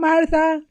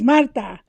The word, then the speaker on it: Marta: It's not Martha, it's Marta. And it's not with a Z, it's with an S because my Look family.